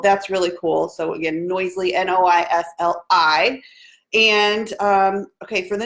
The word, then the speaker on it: Noisli: It's called Noisely. So it's spelled.